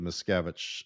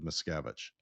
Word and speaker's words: Miscavige: You know, I, on the other hand, he was pretty clear about David Miscavige and the service of David Miscavige.